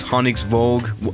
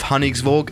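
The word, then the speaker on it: Honningsvåg: I think that little A with a circle above it is actually pronounced with an O, so it's Honningsvag, whatever, it doesn't matter.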